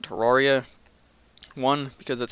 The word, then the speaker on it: Terraria: Welcome to Terraria. Now, one thing I want to point out before the series even starts. Yes, I'm aware that the correct pronunciation is Terraria. However, I pronounce it Terraria.